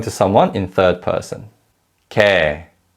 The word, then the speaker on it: 걔: And although 걔 is spelled with a Y glide 예, in fast speech it's pronounced as 걔, 걔.